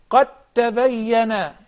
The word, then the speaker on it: قد تبين: قد تبين. قد تبين. Excellent. قد تبين. So we do not pronounce the dal at all, nor the ta in the next example.